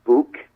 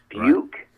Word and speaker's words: Buhk: start the interview yep absolutely okay can you pronounce your last name for us yes book okay that's exactly the way i was going